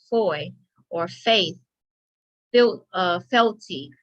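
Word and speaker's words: foi: is a feudal grant of land whoa f-o-i pronounced foy or faith feel uh felty feudal law belief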